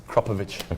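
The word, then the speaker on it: Akrapovič: It's not a Kropovic, it's a Kropovic. We found that out Kropovic.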